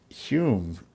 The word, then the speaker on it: Hume: convicts that it was Hume who had, you know, made the success possible. Who's your source? I can't say. But let's say that his name rhymes with prune.